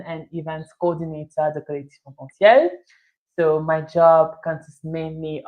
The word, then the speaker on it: Collectif Arc-en-Ciel: Your pronunciation is pretty good. It's pretty good. It's actually the Collectif Arc-en-Ciel, which translates to the Rainbow Collective.